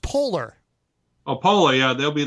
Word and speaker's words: Poehler: I believe it's pronounced Polar.